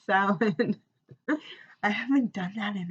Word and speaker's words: Samhain: Samhain, it's not even how you pronounce it, Kim, you know it. It's Samhain.